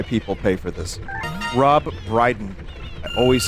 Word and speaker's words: Brydon: That's, it's a comedian from England, Rob Dryden. I always get his name wrong.